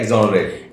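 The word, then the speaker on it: exonerate: Okay, अगला word है एक्सोनरेट। एक्सोनरेट। क्या वर्ड है? एक्सोनरेट। एक्सोनरेट। एक्सोनरेट की भैया यहाँ पर प्रोनाउंसिएशन गलत लिखी हुई है, हम सही बोल रहे हैं, ठीक है।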